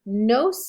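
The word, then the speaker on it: gno: comes to medical terminology that g is silent when you pronounce it but you need to have it there when you spell it gyo woman or female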